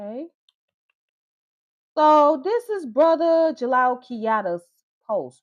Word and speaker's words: Diallo: So you know anybody that knows about the fani language or whatnot the da the d i a is pronounced as j.